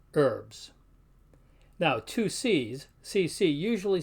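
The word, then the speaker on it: urbs: can hear them both we find the exception at the end of a word where the BS sounds more like a b z so for the word for city is pronounced herbs now two C's CC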